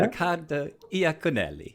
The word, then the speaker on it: Riccardo Iaconelli: Yeah, Riccardo Iaconelli.